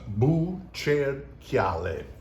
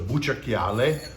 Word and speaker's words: Bucerchiale: That is pronounced Bucerchiale. So just think of like a ghost, a boo, a chair, and chiale. So Bucerchiale. But this is from Chianti Rufina.